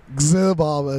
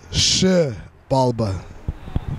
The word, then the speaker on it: Xibalba: So a lot of people like to say Xibalba. It's Xibalba.